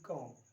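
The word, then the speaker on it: comb: This is कॉम, जिसमें B silent है, बी की आवाज़ बिल्कुल नहीं आएगी, तो बोलने में सिर्फ कॉम ही बोलेंगे, लेकिन लिखने में ये लिखना पड़ेगा कॉम।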